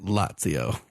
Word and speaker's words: Lazio: He listened to the last episode and said, "Oh, by the way, tell Ferris it's pronounced Lazio."